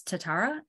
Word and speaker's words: Tatara: that are frequently misspelled my maiden name is tatara t-a-t-a-r-a easy it's like Canada only not quite as nice spelled eight different ways